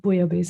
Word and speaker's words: bouillabaisse: In Latin, double L is year. So it's Bouillabaisse?